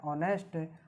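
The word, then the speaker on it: honest: इसका उच्चारण करते हैं तो हमारे पास में आता है ऑनेस्ट, और ओ हमारा स्वर होने के नाते क्या आ जाएगा यहाँ, AN। क्या भर देंगे, AN।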